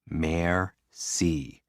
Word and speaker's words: merci: and what they go merci what does it mean thank you break it down mayor c what's a mare a